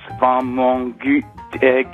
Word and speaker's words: Wamangituka: Silas Wamangituka. Wamangituka. Also weder Wamangituka noch Wamangituka. Wamangituka. Wamang, das ist der französische Part. Und dann Gituka, so deutsch-französische Brite.